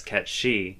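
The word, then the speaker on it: Cait Sith: you is if if the Japanese version pronounces Kate Sith correctly as K she are you are you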